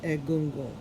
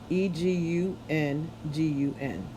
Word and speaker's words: Egungun: The Yoruba term for ancestral spirits is Egungun, pronounced Egungun, Egungun.